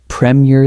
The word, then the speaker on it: Premier: When you practice Premiere, exaggerate the difference between the first strong syllable and the second weak one at first.